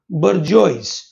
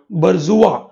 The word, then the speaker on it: bourgeois: Next word is called bourgeois or bourgeois. ठीक है, अलग अलग pronunciation होता है.